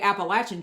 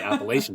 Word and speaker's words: Appalachian: the Mason Dixon line because I say appalachin Trail so yeah whereas people I know say Appalachian Trail and as and I